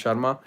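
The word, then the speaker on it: Sarma: name is Sharma Sharma with no H is SAR MA but still pronounce Sharma it's a complicated story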